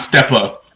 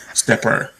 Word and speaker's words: Stepper: an er i'm gonna it's not step up stepper okay i just wanna make sure y'all know i'm not i'm not mispronouncing the name of the song it's called stepper okay okay um but i